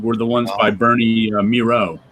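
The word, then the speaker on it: Mireault: the ones by Bernie Miro. Miro, right. Which I didn't know that's how you pronounce his name. Because it's Miralt. But in these issues, even Matt Wagner says rhymes with zero.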